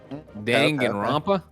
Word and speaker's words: Danganronpa: it's pronounced Danganronpa. Danganronpa.